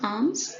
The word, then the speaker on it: alms: see arms what is arms it is one the pronunciation will be arms wherein l will be silent so arms will be